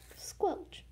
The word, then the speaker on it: Skelch: The second hybrid I ever made was Squelch. I know it's spelled Skelch, but it's supposed to be Squelch.